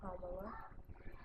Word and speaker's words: Kamala: And now that Kamala, and I'm going to say it right, Kamala, now that Kamala lost, they're like, forget the world.